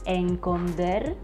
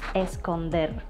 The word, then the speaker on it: esconder: heard some people especially some children saying or even reading encoder instead of esconder is it means to